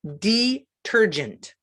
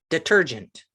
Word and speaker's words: detergent: could say detergent detergent emphasis on the second syllable the ter got it there are